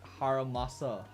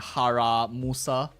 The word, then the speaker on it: Harumasa: Okay, where is Harumasa? You know, at first I keep pronouncing his name wrong. I keep calling him like Haramusa.